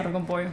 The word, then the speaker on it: arroz con pollo: Yeah, and I also remember like hearing about the term oro con pollo. Is that how you say it? Arroz con pollo.